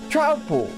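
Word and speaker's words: Troupple: Half trout and half apple, pronounced like trout mouthful. Trowel.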